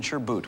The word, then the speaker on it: sherbet: and due to the way folks pronounce things here and there with that word we were going to accept sherbet or sherbret or even maybe even sure boot we might accept anything